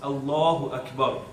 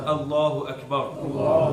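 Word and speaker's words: الله أكبر: And yes, the pronunciation is important as well. It's Allahu Akbar. Repeat after me. Allahu Akbar. Allahu Akbar.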